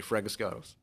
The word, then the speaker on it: Fragiskatos: Don't worry, Fregistakis.